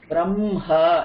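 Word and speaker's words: ब्रह्मा: But பெரியவா சொல்லியிருக்கா, we need to pronounce m first and then h, so it's easier for us on our throat. So we say Brahma and not Brahma.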